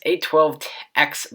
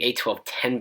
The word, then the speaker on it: A12X: But anyways, this A12X Bionic, I almost called it the A1210 Bionic because I've been used to looking at iPhone 10 and pronouncing it that way.